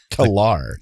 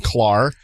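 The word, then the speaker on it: K'Ehleyr: He commented on our last episode with the Star Trek episode, The Emissary, and he said on Facebook, it's pronounced K-Lar, not Klar.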